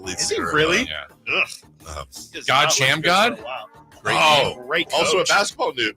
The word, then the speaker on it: Shamgod: God Sham God? Great also a coach. basketball move named after him. Yes. His own move. It's actually, all these years, it's actually pronounced God Shamgod. Shamgod? Shamgod, yeah.